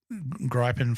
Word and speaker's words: Gripen: and f35s we've got the Gripen fighter from or the grippin depending on how you want to pronounce it it's only got one p what do you reckon